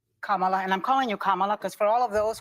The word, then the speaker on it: Kamala: not president watch Kamala and I'm calling you Kamala because for all of those who are mispronouncing it I want you all to know